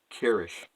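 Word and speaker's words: Kryzch: name was spelled k r y z CH pronounced Kish yeah I thought I had a bad one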